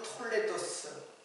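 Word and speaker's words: תולדות: 톨 톨레 톨레다 톨레타에 톨레다 또는 톨레도스 톨레도 스 이렇게 발음을 하고 있습니다 이게 히브리 말인데 그러면이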